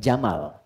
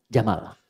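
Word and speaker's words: جمل: dia jantan maka namanya Jamal saya noti ya pendek bacanya Jamal bukan Jamal jamalun unta Jamal ganteng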